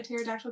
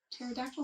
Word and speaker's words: pterodactyl: her, and I was like, "Why can't you hear a pterodactyl going to the bathroom?" She's like, "Why?" I was like, "Because the P is silent."